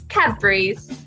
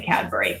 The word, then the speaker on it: Cadbury: Cadbury's. Okay, and let me just tell you, I really do say Cadbury because I'm in Britain way too much to get away with saying Cadbury, but I think that's how most Americans would say it.